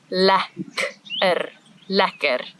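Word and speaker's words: lekker: you must learn how to say this word La ler because it is used all the time in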